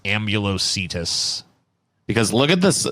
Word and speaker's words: Ambulocetus: It's an Ambulociotis, all right. That's what's going on here. Yeah, I see it now. That's actually a pretty terrifying animal to know. I think it might actually be pronounced Ambulocetus.